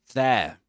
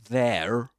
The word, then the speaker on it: there: And you'll see that he doesn't pronounce the final r at the end of there. He doesn't say there, but there.